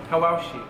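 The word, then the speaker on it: Hawawshi: How do you pronounce it again? Hawashi.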